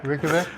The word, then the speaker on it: Rijavec: How do you pronounce his last name? Anybody know? Rijavec. So it's Rijavec. Rickovec. There you go.